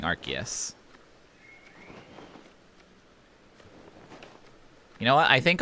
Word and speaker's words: Arceus: It's pronounced Arceus in Japanese, so that's what I've always used as my pronunciation guide.